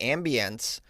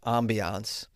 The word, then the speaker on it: ambiance: Is that really the announcement or is that the ambiencece? I'm sorry. I believe it's pronounced ambiance and in England it's just pronounced brilliant.